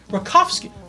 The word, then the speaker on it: Reikofski: He said cow. I said Reikofski? Yeah. Reikofski. Cough. Reikofski. Yes. No moo. No moo, but cough.